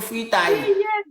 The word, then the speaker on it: fritaille: La fruit, on appelle ça chez nous fritaille. Fritaille. C'est fritaille, chérie, fritaille. C'est plus bon ça. C'est mieux de prononcer ça comme ça.